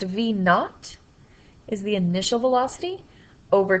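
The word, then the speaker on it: v₀: for final velocity and this V zero is pronounced v naught is the initial velocity over time so divided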